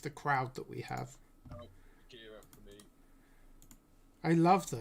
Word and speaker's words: Akira: Right, so we have got the film I can't pronounce, Akira. Akira. Yeah, Akira.